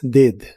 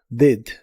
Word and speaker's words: did: En el pasado es did. Se pronuncia con la i corta. Did. Did.